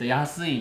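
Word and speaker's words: 安: Đây là chữ kanji được phát âm là AN hoặc YASUI.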